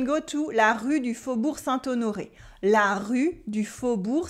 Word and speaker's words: Faubourg: You have the silent G at the end of Faubourg. We don't say Faubourg, we say Faubourg. This time we also have a OU sound in Faubourg.